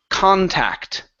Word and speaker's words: contact: this word here is contact okay so the stress is at the very beginning instead of contact him